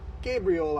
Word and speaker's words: Gabriola: So, Gabriel like the angel, not like Gabby. Gabriola Island.